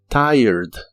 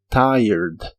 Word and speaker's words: tired: de la t pero las letras r y e se pronuncian al revés es decir primero va el sonido e y luego el sonido r Así que debe sonar como tied tired tired y usaremos la palabra